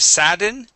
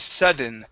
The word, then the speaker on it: sudden: this would be S instead of sadden this is sudden sudden burst of speed sudden burst of speed